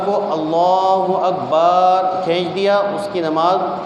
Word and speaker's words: اللہ اکبر: ادا کرنا ضروری ہے۔ کسی نے اللہ اکبر کا صحیح تلفظ ادا نہیں کیا، مثلا اللہ حمزہ کو کھینچ کے پڑھا اس کی نماز نہیں شروع ہوگی۔ کسی نے اللہ اکبر کو اللہ اکبر کھینچ دیا، اس کی